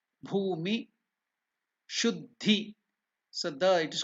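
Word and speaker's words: भूमि शुद्धि: So in this step, I will again teach you the pronunciation of Bhumi Shuddhi. Bha is again Mahaprana, it is not Ba. It is not Bhu, it is Bhu. Bhumi Shuddhi.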